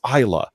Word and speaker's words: Islay: on from where it's it's not it's Leigh it's Hilah and it's like damn